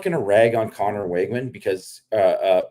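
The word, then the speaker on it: Weigman: to rag on Connor wigman because uh uh wigman is is how you pronounce it I found so I was it's it's wigman but wigman you know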